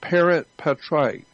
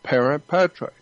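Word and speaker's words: parens patriae: I don't know exactly how to spell it, but it's pronounced parent patriae.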